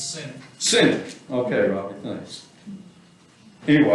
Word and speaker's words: Sinek: Do you guys know who Simon Sinek, am I pronouncing that the right way? The TED Talk guy is. Y'all heard of him? I think it's Senate.